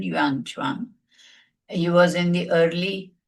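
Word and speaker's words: Xuanzang: Yanuan sorry whom when I was in school he used to be called Yuan but now the correct pronunciation is how it is written. Yanguan, he was in the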